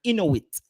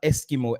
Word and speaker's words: Inuit: Or the Inuit. They're called the Inuit people. Let me rephrase that. It's not Eskimo.